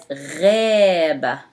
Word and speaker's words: غابة: Again, this is one of the letters that I want you to memorize couple words to remind yourself with how you pronounce ghain as ghaba.